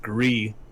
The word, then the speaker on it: Gris: uh on twitter from the creator it's pronounced grease and it means gray in spanish okay okay save because it's pronounced gree and means gray in french i think okay